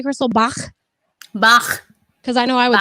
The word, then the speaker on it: Bach: Well, I mean, I was just being extra German, and not like he was, I was just trying to be guttural with it. Bach.